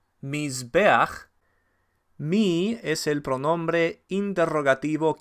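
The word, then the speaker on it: מִזְבֵּחַ: Mizbeach es altar, tiene patach furtiva debajo de la het, que se pronuncia primero. Mizbeach.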